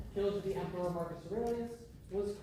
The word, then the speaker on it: Loir: This is the Wa, I believe that's pronounced, river.